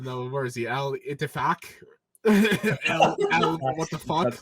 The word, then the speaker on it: Ittifaq: Ittifaq. I'm being completely serious. That's how you pronounce I it.